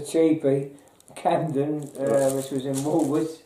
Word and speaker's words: Woolworths: You keep saying like Woolwood, you say it like Woolworths.